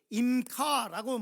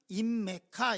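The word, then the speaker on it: עִמְּךָ: 키 임카라고 말씀하고 있어요. 저 단어는 우리가 잘하는 것처럼 키 발음을 좀 빨리 하면 임카고 그거를 따로따로 이렇게 얘기하면 그러면 임메카 이렇게 됩니다. 그러나 실제로는 임카 이렇게 얘기합니다.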